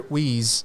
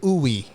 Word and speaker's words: Uy: It's our Spanish heritage as Filipinos that dictates it as uy. So if some Filipino-Americans would say uwi, Oo nga, no? parang R&B singer, uwi! Ganun sila. Oo nga, no? Uwi yung pagpronounce nila.